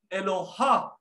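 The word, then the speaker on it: Eloah: Pag sinabi mong singular, you can pronounce it as Eloha.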